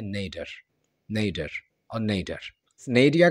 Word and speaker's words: nadir: British English में इसे पढ़ा जाता है नेडिया, नेडिया एंड नेडिया। थोड़ा सा अजीब लग रहा होगा आपको। अमेरिकन इंग्लिश में इसे पढ़ा जाता है नेडर, नेडर और नेडर। नेडिया का इस्तेमाल डेली लाइफ